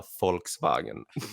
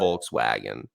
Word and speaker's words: Volkswagen: them I drive a Volkswagen. Like I always pronounce it with an F, like instead of a V, because everyone here is like Right. Volkswagen.